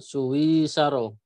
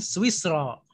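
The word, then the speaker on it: سويسرا: Tilkas sa'atu min Suwisaro. Min Swisro. Oh, min Swisro. Begitu bacanya.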